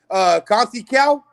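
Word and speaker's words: Conceição: Conceicao.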